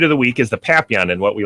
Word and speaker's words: Papillon: Some people would pronounce it as Papillon, which would be incorrect. You're supposed to be, the French version of it, and it would be pronounced Papillon.